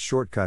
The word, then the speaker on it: shortcut: Phonetic Alphabet to pronounce shortcut have in mind that the size of the syllable indicates where the accent or stress is in this case the accent is in the first syllable corresponding to Short below are other ways